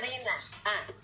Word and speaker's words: Marina: And Marina, am I pronouncing that right? И Марина... Марина, просто Марина. Marina.